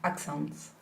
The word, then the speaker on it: accent: in all nouns of 2 or more syllables, normally the last syllable changes from the original vowel to the, Schwa. and the schwa does not take the stress.